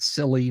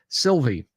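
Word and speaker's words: Silvy: i l v y not silly not silver not D Silva not svy not saliva Sylvie and it's spelled just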